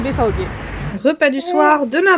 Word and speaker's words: BVG: En fait BFAog c'est BVG mais prononcé en allemand c'est BFAog.